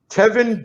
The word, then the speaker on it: Tevin: Oh, his name is Tevin, not Kevin. It's Tevin, not Kevin. Teven. It's Tevin. Tevin Campbell. Like Tevin Campbell, but Teven.